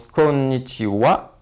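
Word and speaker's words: こんにちは: voulais lee tout d'abord le bonjour donc qui s'écrit connaissiez à mais qui se prononce konichiwa c'est une la prononciation du bois c'est une exception nous verrons pourquoi en fait c'est que c'est une particule nous l'étudions sont juste après pour le bonsoir c'est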